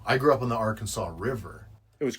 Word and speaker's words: Arkansas City: So you were born in Arkansas city. Is that how you pronounce that? Ar Kansas is how they say in Kansas.